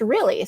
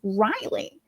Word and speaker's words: Realy: It's really but it's one L. You know it's not two L's. It's it's one L. but it's pronounced really.